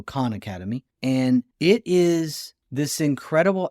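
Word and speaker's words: Khan Academy: called Con Academy and Con Academy is spelled KH H an so Con Academy and it is this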